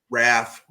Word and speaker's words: Ralph: Raph. The L is non-existent and silent.